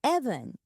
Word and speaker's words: Even: So, it's Evan. Or say Evan like heaven, but starting with an E instead of a K.